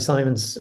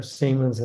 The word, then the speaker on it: Simons: about um you know zabi Simons or seamons I think I'm supposed to pronounce it who I thought